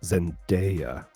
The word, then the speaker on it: Zendaya: of we're we're upsetting sil we did not pronounce zendaya properly and it let it be noted uh